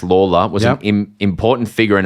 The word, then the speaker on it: Lalor: James writes in and says, Peter Lalors, pronounced Lawler, was an important figure